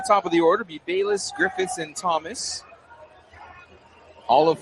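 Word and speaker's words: Balius: And Gavin Bis spells his last name B A L I U S but pronounces it Bis.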